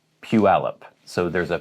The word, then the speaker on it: Puyallup: here's one that i hear so many people mispronouncing it's pualep but so many people want to say pu yalap or pu yalip it's puealop so there's a pew al up puyallup next a city on the coast where